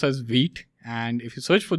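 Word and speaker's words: Vite: So the spelling says it's white or some people might say it as white. Okay. But actually it's pronounced as wheat.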